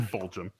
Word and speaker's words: Fulgham: You spelled Fulgham's name wrong, dude.